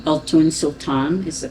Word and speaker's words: Altoon: The name comes from my grandmother, my father's mother, and it's pronounced Altoon. Altoon Sultan is the correct pronunciation.